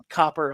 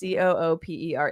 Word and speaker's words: Cooper: Well, it says Copper on this comment. So Who said Cooper. Clarkson. Oh yes, Cooper. that? He said Copper. Is that how it's spelled? No, it's Cooper.